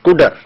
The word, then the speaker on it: cdr: the spelling is CDR the word CDR which represents the operation of CUDA is pronounced as CUDA now we must load